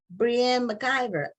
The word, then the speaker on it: Breanne McIvor: pronouncing your name correctly it could be Brianne but she will tell us what her how her name should be pronounced and we welcome her to Black on this matter TV thank you so much for having me and yes you pronounced it perfectly oh and you write